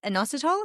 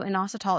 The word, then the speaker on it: inositol: or maybe you're going to hate me for even saying the supplement, No, but is it inositol? Is that how it's inositol. Yeah.